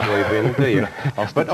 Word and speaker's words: Øyvind: You don't want to pronounce Øyvind, do you?